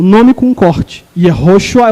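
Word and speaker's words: יהושע: O nome de Josué em hebraico é Yehoshua. Yehoshua. E esse outro nome aqui em hebraico é Yeshua. Vou repetir. Yehoshua.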